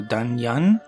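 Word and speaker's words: Danyang: ours he is in danyoung and I actually I was told I shouldn't pronounce the G is really so done young and then yes down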